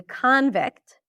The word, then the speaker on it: convict: So the stress shift changes the pronunciation. Okay. When it's a noun, she's a convict.